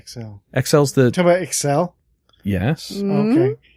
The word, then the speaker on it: Excel: XL's the, Talk about Excel? yes. Mm-hmm. Okay. It's just spreadsheet?